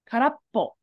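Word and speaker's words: 空っぽ: So sora, to fly, has a separate meaning when it's pronounced differently to mean empty. So this right here is actually ka ra karappo.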